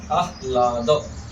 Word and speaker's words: आह्लाद: आह्लाद, आह्लाद, ह आधा है, ल पूरा है, तो इसलिए आह्लाद।